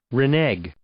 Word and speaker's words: renege: How do I pronounce it? Renege. Oh! Yeah, hold that. Renege.